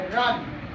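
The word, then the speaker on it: run: जैसे आर यू एन, इसको आर यू, यू इसको बोलते हैं, लेकिन यहाँ यू क्या चीज में बदल जाएगा, आ में, रन।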